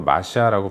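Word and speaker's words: משא: 대해 심판을 이야기하십니다 여러분이 엄중한 말씀이라는 것은 히브리어로 마샤라고 발음하는데 뜻이 무거운 짐이라는 의미입니다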